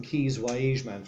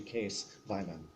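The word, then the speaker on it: Kees Waaijman: No, but Kees, I called him Kees Weiman for a number of years until I discovered the pronunciation in Dutch is actually Kees Weiman.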